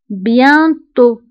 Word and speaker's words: bientôt: كتعني قريبا بيانتو بيانتو فبالنسبة لبيانتو هنا أيضا أو كنكتبوها بالأكسان سيركونفليكس وتي في آخر الكلمة ما كنطقوهاش فنكتبوها ولكن لا ننطقوها نقول بيانتو bientôt depuis depuis كتعني منذ